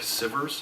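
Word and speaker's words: Sivers: the name of Derek Siver's I believe sight pronounces name si ve RS and if you were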